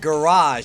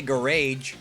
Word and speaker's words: garage: Like garage. You don't say garage.